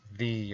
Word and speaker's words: ye: to do the thorn, which is an old English letter, and it's not pronounced ye old chop, it's pronounced the old chop.